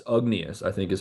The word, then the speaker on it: Ugnius: N I U S, Ugnius, I think is how it's pronounced. Jarosevicius, Jarosevicius, he's from Lithuania. way it's pronounced Ugnius. That's the It's got to be like Eunice or something like that.